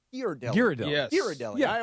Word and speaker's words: Ghirardelli: I learned that it's not pronounced Ghirardelli. It's pronounced Ghirardelli.